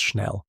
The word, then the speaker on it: Schnell: Pierre Point later wrote that she uttered schnell, pronounced schnell, meaning quickly, before the hood was placed.